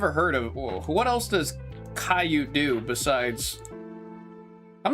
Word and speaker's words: Caillou: of What else does Caillou do besides I'm not crazy, right?